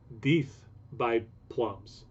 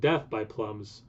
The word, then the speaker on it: Deth By Plums: um now i think i actually know how to pronounce this now this is deep by plums not death by plums but apparently it's pronounced more like deep imperial stout aged wood plums